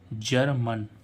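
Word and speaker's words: German: gents ऐसे ही जीई आर एम ए एन जर्मन ठीक है ऐसे ही इसमें जीई एन आई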